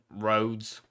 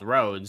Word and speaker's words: Rhodes: town of our holds I I believe it's called Rhodes Mr Milo roads now don't you try and correct my their pronunciation I know how it's pronounced not stood in English I I reckon the townsfolk would have a better idea of what that there's called and they told me it was called roads so it might be